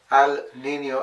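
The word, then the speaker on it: El Niño: going to speak about ELO and Laina they are actually pronounced as Al Nino and La n but I'm more comfortable with ELO and Lina what are these phenomenon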